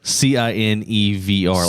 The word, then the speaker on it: CineVR: There's an app called I think it's pronounced Sin VR. No, well, you're gonna have to spell it because people are gonna think it's porn. CINE. Like you mean SINVR? No, CINEVR, like cinema. Cine VR.